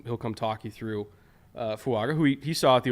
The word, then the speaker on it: Fuaga: right faga all right fuaga not fanga fuaga for those wondering how to pronounce the last name there's been a little